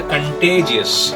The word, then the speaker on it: contagious: Coronavirus is a contagious.